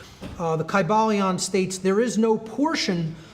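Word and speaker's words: Kybalion: Greek language in which there was no like short Y sounds, you know, it would have been a long I sound. Kaiba Leon and every syllable would have been pronounced.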